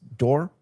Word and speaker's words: Dor: And your your first name is pronounced Dor? Correct.